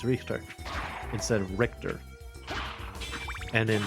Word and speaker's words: Richter: I really like the way the voice actress for Maria in this game pronounces Richter's name, because she actually says it like you would say it in German. Like she says Richter instead of Richter.